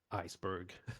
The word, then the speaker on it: Aiceberg: In today's episode, we're super lucky to have Alex Schlager, and he is from the startup named Iceberg. It's spelled A-Iceberg.